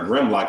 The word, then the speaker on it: Grimlock: big goofy guy yeah is it gridlock or Grimlock I guess I've been saying his name wrong I think it's Grid it's Grim Grim oh it's Grim yeah oh Grim of